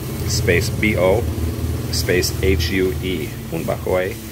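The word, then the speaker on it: Huế: B-O space H-U-E, bunba hoy. And hoy is the place where it originally started. Hoy is a place in Vietnam.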